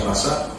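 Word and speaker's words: רצח: La palabra hebrea para matar aquí es un verbo que en hebreo se pronuncia razar y significa matar intencionalmente y con premeditación a otro ser humano.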